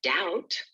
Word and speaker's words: doubt: There's no B sound in the word doubt, no G sound in the word sign, no W in who.